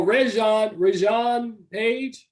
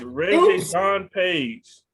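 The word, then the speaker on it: Regé-Jean Page: It's Reggie John Page.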